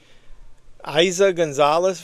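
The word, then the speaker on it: Eiza González: It's got Isa Gonzalez, that's how you pronounce her name, and Aaron Paul, a neon soaked cosmic nightmare.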